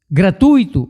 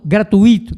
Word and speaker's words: gratuito: gramática então por exemplo a palavra é gratuito e não gratuito não é isso mas